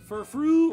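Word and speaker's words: Furfrou: wisan from the East F fru or is it f fro oh F fro cuz it has an afro oh that makes a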